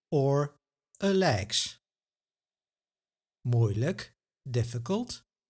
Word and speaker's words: moeilijk: Moeilijk. Makkelijk. Pijnlijk. Nauwelijks. Now this is a video on the I sound, but the suffix like is pronounced as luk.